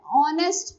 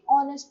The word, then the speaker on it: honest: We also write an honest person. हम क्या लिखेंगे? honest person. Since H-O is pronounced as O, a vowel sound.